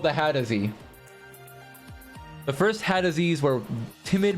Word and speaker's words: Hadozee: It's the Hadozee, not the Hazardee.